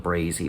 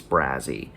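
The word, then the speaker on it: Brazee: that street name wrong i want to call it brazie but it's brazzy so she um i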